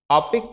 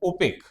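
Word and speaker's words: OPEC: निम्नलिखित देशों में से कौन आपेक का सदस्य नहीं है? यहां पर आपेक नहीं होगा। थोड़ा सा मैं बता दूं इसका सही प्रोनाउंसिएशन है ओपेक।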